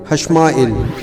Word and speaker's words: حشمائیل: آئے گا ششمائیل حشمائیل۔ اصل میں جو تلفظ ہے فرشتے کو پکارنے کا وہ ہم تو جیسے ایل بولتے ہیں، الف پھر حمزہ پھر یہ پھر لام، لیکن جو اس کا اصل تلفظ ہے پکارنے کا وہ بنتا ہے حمزہ کے نیچے زیر اور پھر لام، تو یہ بنے گا ششمائیل حشمائیل۔ اسی طریقے سے فرشتوں